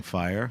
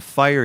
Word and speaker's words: Feier: 1, I want to talk about Riesling Fire.